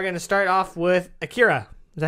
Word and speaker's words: Akira: We are going to start off with Akira. Is that how you pronounce it?